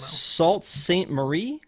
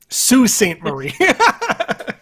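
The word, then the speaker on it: Sault Ste. Marie: tomorrow yeah oh they already came to toronto salt saint marie sue saint marie sorry it's pronounced stupid american stupid american there's a video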